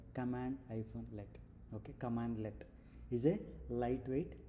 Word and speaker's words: cmdlet: So, cmdlet is basically pronounced as uh cmdlet as pronounced as command-let.